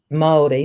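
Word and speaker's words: Māori: know pronouncing words right it's so like maori not maori or not taranaki so there's this movement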